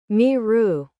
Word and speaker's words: miru: Miru.